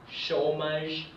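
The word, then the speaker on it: chômage: this this is pronounced shomage and as you can see the e is not pronounced but keep in mind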